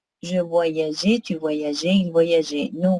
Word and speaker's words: voyageais: Ici, oui, il est nécessaire d'écrire E parce que sinon, vous allez prononcer je voyaguais. Pour que ça sonne J, il faut ajouter E. Je voyageais, tu voyageais, il voyageait.